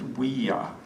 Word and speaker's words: Ouija: It's pronounced Ouija. Oui is French for yes. Ja is German for yes. Ouija.